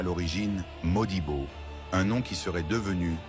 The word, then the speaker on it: Modibo: Certaines sources indiquent qu'il se nommait à l'origine Modibo, un nom qui serait devenu Motiba en raison de la prononciation Mossi.